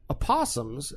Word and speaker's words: opossum: silent O, It's or- a silent O.